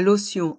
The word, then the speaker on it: lotion: son ion l'tion et le T se prononce comme un S parce qu'il est entre deux voyelles ici la voyelle o